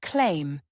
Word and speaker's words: climb: The letter B is silent in words like comb, thumb, and climb. Many learners mistakenly pronounce the B at the end, saying comb B or thumb B. But the correct pronunciation is comb, thumb, and claim, no B sound.